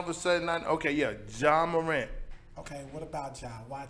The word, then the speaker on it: Ja Morant: Jay Morant.